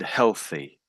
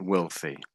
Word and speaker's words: wealthy: Um, and I think every time you said this word, you said healthy. Healthy. Wealthy. Yes, that's it. Wealthy. And your th I can hear your th there.